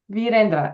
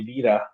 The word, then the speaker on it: Virra: Or or you can call me Vira. That is also fine. Most of the kids call me Vera because they cannot pronounce full name.